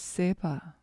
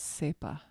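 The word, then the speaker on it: སྲིད་པ: It looks like Sredpa. But the Tibetans pronounce it as sepa.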